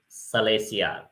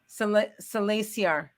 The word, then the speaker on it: Salasiar: Salasiar. Salasiar.